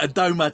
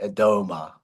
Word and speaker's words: Adomah: Albert, I saw one of your interviews in preparing for this that saying Adom is a very British way of pronouncing your surname, isn't it? It's like Adma, isn't it? Adma.